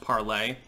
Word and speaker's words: Parler: to parlor now which initially was going to be pronounced parlay but most people call it parlor and I think the